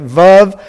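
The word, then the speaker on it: וו: Vav sounds like vi in void.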